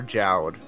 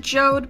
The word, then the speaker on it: Jowd: Okay, so important question: is it Jode or Jowd? I pronounce it Jode because it looks like Jode, and also because the Japanese version is Jodo.